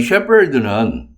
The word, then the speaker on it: Shepherd: 이 셰퍼드는 PH는 되게 F로 발음되죠? F처럼? 네. 근데 이 경우에는 이 PH가 P로 발음됩니다. 이것도 조심하시고요.